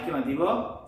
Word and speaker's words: comb: এর বাজে আছে COMB বি না মাতিব মানে কি মাতিব COM মাতিব দে কম ইন্দলা গুণ হইবা কম বি সাইলেন্ট বি না মাতিব কম মানে মাতা সুররে